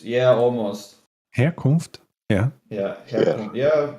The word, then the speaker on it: Herkunft: Yeah, Herkunft. Yeah, sounds pretty good. Okay, well, I'm used to not pronouncing H's, but I got German does pronounce their H. It's kind of soft, yeah. Gotta do it soft.